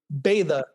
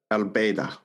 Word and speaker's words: Baydha: How do you pronounce it? Baydha. Baydha.